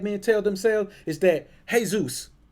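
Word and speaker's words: Jesús: tell themselves is that hey Zeus which is how that name is pronounced is a Hispanic name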